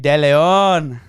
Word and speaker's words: Deleon: Let's waste no further time in introducing AJ Deleon.